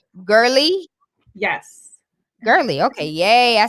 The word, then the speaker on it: Gerly: Gerly.